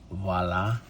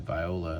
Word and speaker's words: Viola: Frank Voila. Frank Voila. See, everyone pronounces it viola and they're they're wrong.